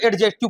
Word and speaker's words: adjective: लोग इसको हम लोग एडजेक्टिव पढ़ते एडजेक्टिव ठीक है ना तो इसको एडजेक्टिव नहीं पढ़ना एडजेक्टिव एडजेक्टिव नहीं पढ़ना ठीक है ना बस ड को हटा देना है ड को साइलेंट कर देना है क्या पढ़ना है एडजेक्टिव